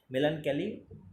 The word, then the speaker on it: melancholy: ওকে, next রয়েছে মেলানকালি, মেলানক্যালি, মেলানক্যালি রয়েছে, উচ্চারণটা কলি, লেখার সময় কলি করবে, মেলানক্যালি MELANCHOLY।